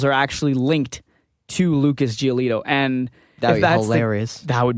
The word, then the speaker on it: Giolito: oh I got it it rhymes with gelato sort of Lucas giolito Lucas giolito was the other pitcher